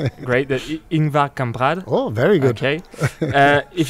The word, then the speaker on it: Ingvar Kamprad: I'm hoping I'm pronouncing the name great. Ingvar Kamprad.